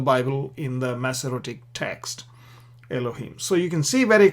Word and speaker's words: אֱלֹהִים: Now, if you notice here, Eloah, so what we're doing here is we're putting a chirik yod mem, it becomes Elohim. Elohim.